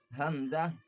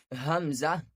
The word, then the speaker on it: ء: Hamzah, ha. These both letters pronounce from the lower part of the throat, which is near to the chest. Hamzah, ha, sound like release from the heart side.